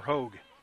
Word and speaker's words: Hoag: Annabelle, the pronunciation, guys, says H-O-A-G. Is that Hoag or Hoag? You know, I'm going to go with Hoag. Josh, you can help me out. It's one syllable, I assume.